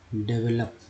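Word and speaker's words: develop: विकसित करना, डेवलप, वो का उच्चारण आ के रूप में हुआ है यहाँ पर।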